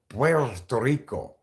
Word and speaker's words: Puerto Rico: a territory PTO Rico Puerto Rico that's how you pronounce Puerto Rico like that okay it's the land